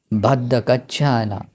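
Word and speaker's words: भद्दा कच्चाना: यहाँ भद्दा कच्छाना भी ये बोलते हैं, लेकिन यहाँ उच्चारण दिया भद्द कच्छाना, ठीक है, भद्दा कच्छाना ऐसे भी बोल सकते हैं।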